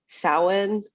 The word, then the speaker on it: Samhain: it's a festival called some saheem sameen am i getting that right i think there's different pronunciations but i know one of them is um samhain or salmon depending it depends on where you're from how you say it yeah and so